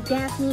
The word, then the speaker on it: Daphne: I go by Daphne. Daphne, and that's 2 syllables, VT dubs.